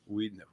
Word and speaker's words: Wiedenheft: It's German, and in German, we have two vowels, W-I-E in German. The second vowel is long, as in diesel. Okay. It's not diesel, it's Right. diesel. So Okay, it's not pronounces- Weidenheft, it's Wiedenheft in German.